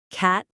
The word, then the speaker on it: catalyst: Catalyst. Catalyst. The stress is on the first syllable.